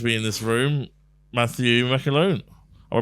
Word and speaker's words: McAloone: And a special guest, another funny man to be in this room, Matthew McAloone. Am I pronouncing that right, McAloone?